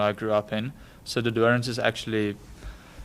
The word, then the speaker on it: De Doorns: Yeah, okay, so I'll start with the Dorans. Like I said, that's the town where I grew up in. So the Dorans is actually, it's a small town.